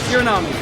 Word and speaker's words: Hiranami: Hiranami.